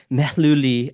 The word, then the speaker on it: Mehluli: I've got in front of me Mehluli. I think I pronounced that right.